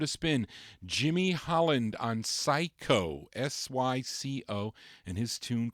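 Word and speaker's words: Psyco: Would you say that's Psycho? Would you pronounce that? Psycho or Cisco? I don't know. Not Cisco. Psycho Records.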